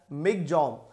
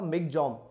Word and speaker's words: Michaung: is actually pronounced as Migjong. We call it Michaung, but the real pronunciation as per Myanmar, it is called the Migjong.